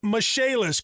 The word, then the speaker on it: Michaelis: restoration and insurance restoration spelled m i c h a e l i s pronounced mishaelis call 844 fix indy